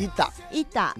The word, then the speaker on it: ita: 一打，对，我那是我第